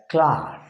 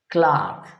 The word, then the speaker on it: cloth: we pronounce that as clark clark please note the same letter o is pronounced for the word cloth as ah and plural clothes is